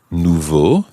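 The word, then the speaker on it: nouveaux: Nouveau the masculine plural and that actually ends in an X nouveau nouveau no Nouveau in the singular is spelled n-o-u-v-e-a-u and in the plural exactly the same but with an x on the end n o u v e a u x but it sounds exactly like the singular nouveau so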